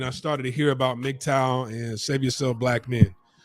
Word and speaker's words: MGTOW: when you say it it's an acronym that you can say you don't have to pronounce every letter it's just mgtow right two-syllable acronym um the the meaning